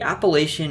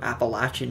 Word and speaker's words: Appalachian: philadelphia being especially agricultural the appalachian or appalachian mountains the pronunciation really depends on where you're from run northeast to southwest